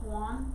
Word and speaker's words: Juan: Juan is how they say it.